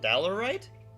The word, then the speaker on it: diorite: Bug bug man says googled it and it's pronounced theory day diorite. Really? Oh no. Diurite. Okay. Diorite like the word die.